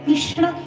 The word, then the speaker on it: कृष्ण: कृष्ण म्हणेल किंवा काहीही परंतु अत्यंत शुद्ध उच्चारण जर केलं तर कृष्ण असं आहे अत्यंत बघा हे नाव जर उच्चारायला जर ठरलं ना कमीत कमी आपल्याला जन्म तरी लागेल शुद्ध उच्चारण करण्याकरता कारण की आपल्याला वाटतं तेवढं सोपं नाहीये याच्यामध्ये मूर्धन्य श लागलेला आहे आणि पुढे ण आहे या दोनचाही जे की मूर्धा स्थानीय वर्ण आहेत या दोन्हीचाही उच्चार करणं